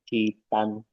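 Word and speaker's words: 鸡蛋: Citan. Citan Citan. Harus belakangnya harus nada keempat.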